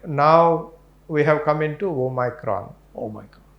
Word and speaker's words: omicron: we have come into omicron oh my god right this is o micron that is how in greek they spell it okay right prior to